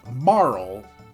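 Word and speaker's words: Marle: it's uh um so in Japanese her name is Maru Maru so I think Marl is the closest to the intended pronunciation and that is what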